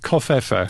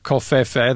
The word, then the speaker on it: covfefe: I tend to pronounce it kind of foreignly, like Covfefe.